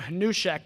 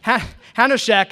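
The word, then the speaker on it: Hanushek: for his his work I pronounced his name hushek and then a year ago I met him and and complimented him and he promptly told me that that's he how you say his name um h hanek a senior fellow at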